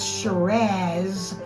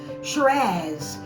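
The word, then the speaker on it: Shiraz: and an original French okay what is this shz from Australia that's how you pronounce it like pizaz shz it's the famous SE raw grape of the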